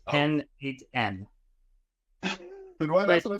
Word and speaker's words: n8n: It's pronounced N8N.